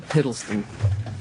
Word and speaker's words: Hiddleston: How do you pronounce his name? Hiddleston? Hiddleston.